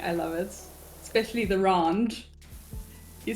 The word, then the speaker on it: rand: Especially the rand. You say it like you live in the upmarket areas. I don't know Oh how my to gosh. fucking pronounce it. Like rand.